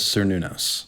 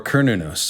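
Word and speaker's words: Cernunnos: of the folkloric figure known as sernunos or kernunus i've heard both pronunciations in any case old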